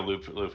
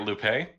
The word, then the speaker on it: Lupe: So I guess it has to still be a Lupe. It has to still be a Lupe. Any of the Lupes you have, I heard people say that they're actually pronounced Loop.